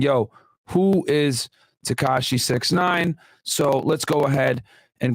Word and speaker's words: 6ix9ine: So Danny Hernandez, born May 8th, 1996, known professionally as 6ix9ine, styled as 6ix9ine and pronounced 6ix9ine, and formerly as Tekashi 6ix9ine, is an American rapper.